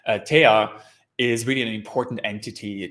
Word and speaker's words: TEA: So I think TEA, as we call it, it's not pronounced T, TEA is really an important entity to help drive the growth of IOTA and Shimmer forward.